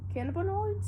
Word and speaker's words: cannabinoids: Cannabinoids? Oh, cannabinoids. That's how it's pronounced.